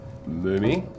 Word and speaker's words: Mumi: The correct uh pronouncing my surname is mommy as it reads.